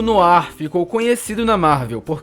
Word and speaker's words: noir: um nó no ir ninguém sabe como se pronuncia né não há no ar o mistério resolvido e o que essa palavra significa no ar é um gênero cinematográfico que surgiu nos anos 40 essa expressão filme noir inclusive foi dada por um crítico de cinema francês chamado no frank então é por isso que a pronúncia assim ela vem do francês esse gênero no arco